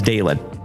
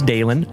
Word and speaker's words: Dalen: If it is your very first time tuning into this ugly mug, my name is Dalen. Hi. Nice to meet you. My name is Dalen, D-A-L-E-N, like Dale plus N.